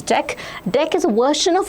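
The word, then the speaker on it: deque: How need to pronounce this? This you need to pronounce as deck.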